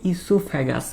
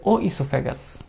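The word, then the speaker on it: oesophagus: তো এটাকে ইসোফ্যাগাসও বলা হয়, মানে ও একটা ওটা উচ্চারণ হয় না আর কি, নর্মালি এটাকে ইসোফ্যাগাস বলা হয়।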